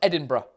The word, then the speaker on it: Edinburgh: to pronounce edinburgh idambour in english right it's pronounced edinburgh that's that's it that's my tutor thanks very